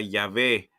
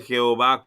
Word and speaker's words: Yahvé: Aquí tenemos la palabra Yahvé. No dice Jehová, como muchos lo quieren traducir. Esas marcas que después la gente traduce como para poder justificar, pronunciarlo como Jehová, vinieron mucho después.